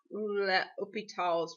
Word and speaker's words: L'Hôpital: I know this looks like L'Hospital's rule, but it's actually pronounced L'Hôpital's rule.